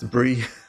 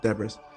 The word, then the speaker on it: debris: deis yeah okay and I know it's uh pronounced de briis I just like calling it debras it's fun on um how do I clean